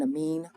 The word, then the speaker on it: amine: makes this a H this isn't a mind not in a mind it's really called an amine okay so amine or a mine either one doesn't matter how you pronounce it but that one that